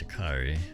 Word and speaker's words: Sha'Carri: Her name's Sha'Carri.